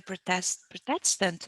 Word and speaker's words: Protestant: And I remember that in the Protestant, that's the pronunciation, Protestant.